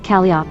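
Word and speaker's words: calliope: is a professional one those who played the steam whistle organ patented by Joshua Stoddard In 1855 and those who worked in proximity to it generally referred SL refer to it as calop long o whether this originated in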